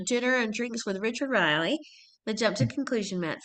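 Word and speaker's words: Riehle: Riley. Is that how you pronounce Riley?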